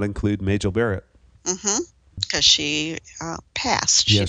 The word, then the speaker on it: Majel Barrett: Majel Barrett. Majel Barrett. Oh my God, that my cough is killing me. Do we need to stop? So this is the first one to not include Majel Barrett.